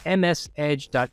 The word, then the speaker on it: msedge.exe.exe: Now, that is not a mispronunciation. It's not msedge.exe, which is obviously the process for the Microsoft Edge browser. It's msedge.exe.exe.